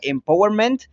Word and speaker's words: empowerment: Y esta, pues básicamente primero analicémosla, que esta es una palabra inglesa que en su término original se pronunciaría empowerment, que tiene un significado